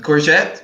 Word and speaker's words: courgette: the long green vegetable courgette well da is the British English term for it the Americans say tsukimi yes so more similar to the Italian okay is my favorite